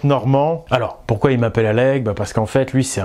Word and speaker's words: Oleg: alors pourquoi ils m'appellent allègue parce qu'en fait lui c'est un polyglotte et en russe normalement oleg ça se prononce à l'oeil et donc on va